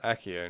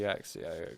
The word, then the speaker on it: Accio: fire oh axio also it's accio not bloody axio i hate copper fire